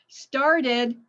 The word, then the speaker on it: started: Started, yes, 2 syllables.